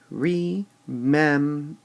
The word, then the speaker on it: remember: Or would we say remember? And obviously, we would say remember. And since this word rhymes with December, it becomes clear.